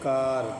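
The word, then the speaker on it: car: کھڑا زبر کے ساتھ ہو رہا ہے آر۔ ایسے کار، تو یہاں پر اے کا تلفظ کھڑا زبر کے ساتھ ہو رہا ہے کار، ٹھیک ہے۔ مس گاڑی۔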